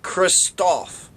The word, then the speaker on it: Christophe: So, Henri Christophe, pronounced Christophe, was destined to be a great man.